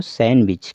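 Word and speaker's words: sandwich: है सैंडविच लिखा गया लेकिन हम क्या पढ़ेंगे इसको सैंडविच क्योंकि डी का उच्चारण नहीं करना है सैंडविच ग्रंड फादर सॉरी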